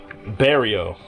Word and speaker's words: Barrio: Del Barrio. Gotta roll your R's, man. Barrio. Oh, okay.